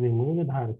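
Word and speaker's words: Muladhara: So A is silent. I told you yesterday also, A is silent.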